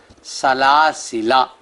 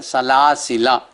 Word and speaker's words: سلاسلا: سورہ دہر رکوع 1، لکھنے میں سلاسلا اور پڑھنا ہے سلاسلا الف کے بغیر، جو لام کے بعد الف ہے آخر میں وہ نہیں پڑھا جائے گا، سلاسلا وَأَغْلَالًا وَسَعِيرًا۔ سپارہ نمبر